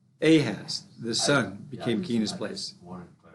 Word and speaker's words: Ahaz: yeah yeah i think i'm just pronouncing it wrong so it's it's uh a has the son became keenest